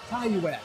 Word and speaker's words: Taiyuan: We are at the Asian Student Cluster Competition 2018 edition, and we are talking to Taiyuan. I pronounce that right? Taiyuan. Taiyuan.